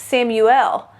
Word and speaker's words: Samuel: It's a Hebrew name, so it should really be pronounced Samuel.